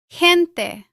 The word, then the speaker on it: gente: Before E or I, the G has a stronger sound from the throat, similar to the Spanish J. For example, gente.